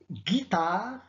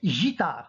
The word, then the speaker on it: guitare: la lettre g exemple guitare bac regardez guitare si on n'a pas écrit le u qu'est-ce qu'on va prononcer on va prononcer gitard donc pour obtenir ledit